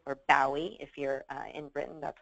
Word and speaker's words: Bowie: So from Adele to Coldplay to icons like the Beatles or the Rolling Stones, David Bowie, or Bowie, if you're in Britain, that's how you pronounce it.